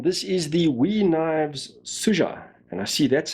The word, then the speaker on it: Sugga: is the we knives suja and i see that's how you're supposed to pronounce it it's s-u-g-g-a with a soft g suja you certainly don't want to say suga in my country it